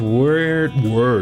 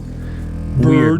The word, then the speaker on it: Wyrd: There's a different entrance to each word realm. Word. Word. Weird. What rhymes with weird? Beard rhymes with weird. Weird. So EIRD rhymes with EARD.